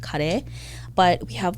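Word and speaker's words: カレー: curries we you know everyone says curry which is fine um in japanese it's called kare but we have like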